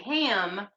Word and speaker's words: HAM: So it's spelled HAM, like ham, but it's with a long A.